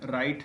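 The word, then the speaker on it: write: तो डब्लू इज नॉट pronounced at the beginning of a word when it is before the letter R, मतलब W का उच्चारण नहीं करते हैं।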